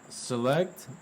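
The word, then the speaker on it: Sillect: that word uh uh select but it's spelled s-i-l-l-e-c-t Avenue yeah what's the number uh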